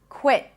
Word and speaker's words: quit: Quit. Quit. Now, of course, you can pop the tea. It's all good. Quit. Quit. Whether you pop it or you hold it, both are fine. We're focusing on the vowel here.